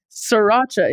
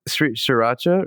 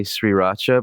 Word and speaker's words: sriracha: this is controversial but I can't say that spicy Sriracha word right I say sriracha just said it right Sriracha yeah Sriracha that's how you say it I had to stop and think before I said it oh I see okay but I I normally say shacha but then I got made fun of so I mix